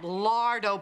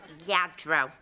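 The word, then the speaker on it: Lladró: i've got all that lardo porcelain to dust rita it's lagro you can pronounce it i can afford it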